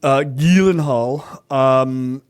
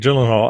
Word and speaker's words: Gyllenhaal: Starring Jake Gyllenhaal, which is apparently the proper pronunciation of his last name, according to him.